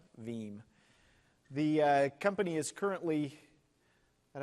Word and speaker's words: Veeam: Everybody asks, you work with, and then they usually pause and say, is it VM? And it's actually Veeam, and it rhymes with team.